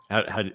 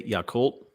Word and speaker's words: Yakult: I don't know how to pronounce it. Yakult. What'd you say? Yakult?